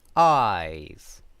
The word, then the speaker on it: eyes: in pronunciation um so eyes has a long vowel sound eyes while ice has a